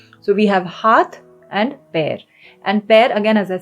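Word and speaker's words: पैर: Pair. Like the English word pair, pair. That's the same pronunciation. So we have haath and pair.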